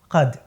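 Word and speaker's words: क़द: आप कद बोलते हैं दरअसल यहां का के नीचे नुक्ता है यह है कद यहां जो उच्चारण होगा वह होगा कद क के नीचे नुक्ता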